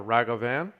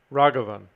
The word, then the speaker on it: Ragavan: right now raghavan what was i saying before ragavan i don't know raghavan i'll pass sure swing forward trigger grid i'll take it over i go to 10.